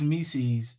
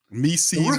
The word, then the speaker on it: Missi: It's one of them things where Mises rhyme with Reese's. Is that what's going on here? If that's what you like, that's what you into, bro. It's Yves Mises, bro, not Mises.